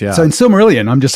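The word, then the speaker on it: Silmarillion: If you listen to Christopher say it, he very clearly always says sylmerelion. Sylmerelion. And you've got that each vow being independently pronounced. And even that's not quite right because we're told, of course, that the I is actually an E sound, not an I sound.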